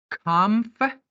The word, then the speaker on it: comfortable: right it is wrong it's see the correct pronunciation for this word is comforable comfortable aable comfortable I'm not comfortable in this